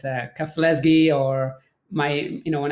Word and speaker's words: Keflezighi: simply as meh but my last name is pronounced kafleski i said earlier thank